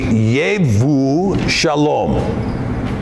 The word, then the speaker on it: Yevu Shalom: And the town was called Jebu Shalom. But no J in the Hebrew. Actually, Yevu Shalom.